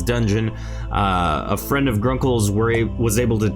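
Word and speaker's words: Vgrunkael: i am in fact grunkle spelled v g-r-u-n-k-a-e-l the v is silent apparently i hear or don't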